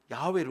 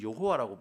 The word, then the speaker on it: 야훼: 했으면 하나님의 이름이 야오회인데요 야훼를 우리 지금 여호와라고 부르잖아요이 잘못된 거예요 야외인데이 야훼라는 발음을 잃어버릴